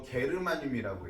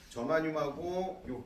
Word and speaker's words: 저마늄: 일단 반도체라는 건 아까도 얘기했지만 가장 대표적인게 규소하고 저마늄이라고 했죠.이 저만늄 옛날 할머니들은 이거 게르마늄이라고 읽었어. 지역명에서 따온 거야. 게르만 지역에서 발견된 뭐 이런 뜻이었나 봐. 그래서 저마늄하고요 규소.